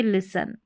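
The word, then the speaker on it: listen: है यह साइलेंट रहेगा तो इसको लिसन नहीं पढ़ेंगे हम पढ़ेंगे लिसन क्या पढ़ेंगे लिसन जैसे कि यहां पर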